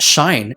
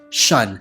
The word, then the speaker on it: Shun: So yeah, we have Fitz, Vigilant, and Shun, which is pronounced Shine, but unfortunately for the longest time, I was pronouncing or mispronouncing her name as Shun, and I was like, that is such an unfortunate name. Later in the books, he's like, oh, it's pronounced as Shine, and I was like,